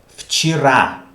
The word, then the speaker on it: вчера: Вчера. Вчера. Why do I pronounce ye like e? Because a is stressed. Okay? Вчера. That's why ye is pronounced like e.